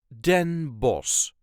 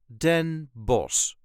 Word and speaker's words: Den Bosch: us duchies say denos den boss there is a light emphasis on the last part Den boss den boss in this case we don't pronounce the CH which would technically be a harsh G A so this time